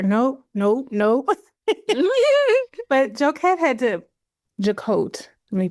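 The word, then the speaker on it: Jacquotte: But Joette had to jacote, let me pronounce her name correctly.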